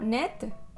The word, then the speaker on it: net: Sí, como net, que es neto. Net, ajá.